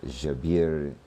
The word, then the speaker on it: Jabir: uh the famous Gerber as he is known uh and Arazzi um the proper pronunciation was lost uh to the western world but of course is remembered in the Arabic. So Jabir and Ali the theory that they developed included a great deal of metallurgy.